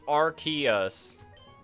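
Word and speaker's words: Arceus: It's pronounced Archus.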